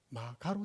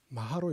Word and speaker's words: 마하: 마가로 되어 있습니다. 그런데 우리는 읽을 때 어찌 읽습니까? 여기 보시면 가짜 아닙니까? 마하로 읽습니다. 왜? 음사인 거 아닙니까? 산스크리트 발음대로 한 겁니다.